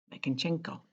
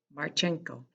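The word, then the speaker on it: Martchenko: It's by Bob Munch and Michael Makinchenko. I can't quite say it right. Sorry, Michael. Marchenko.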